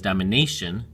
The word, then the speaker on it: domination: Well, this one is domination, so soft A, hard A again, domination, and then here's soft A, dominant, and dominantly.